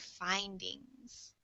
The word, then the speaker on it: findings: And this word findings, it has a long I sound, so it's like findings.